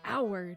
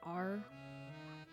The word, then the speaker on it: our: vibes are like it's hour not r i just i just